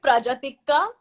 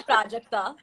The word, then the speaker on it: Prajakta: So Shan cannot say my name. Okay, so what does he say? He'll call me Prajatikka, but he can't say Prajakta.